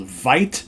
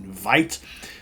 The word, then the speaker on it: Weite: the band is called Vite spelled w-e-i-t-e it's a German pronunciation Vite the album is called